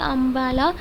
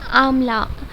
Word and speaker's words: आमला: अंबाला लिखा हुआ है इट इज नॉट अंबाला इट्स आमला एंड य प अंबाला लिखा है बट इसको प्रोनाउंस ऐसे करना है आमला आमला इट्स नॉट आमला okay हरदे Mahinda aloe vera